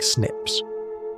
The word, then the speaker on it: SNPs: Among those small differences, scientists found what they called single nucleotide polymorphisms, or SNPs, pronounced like snips.